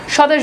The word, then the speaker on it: স্বদেশ: স্বর্গ বফলা উচ্চারণ নাই স্বদেশ বফলার উচ্চারণ নাই অর্থাৎ শব্দের শুরুতে যখন